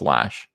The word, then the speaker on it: Lash: It's pronounced Lash.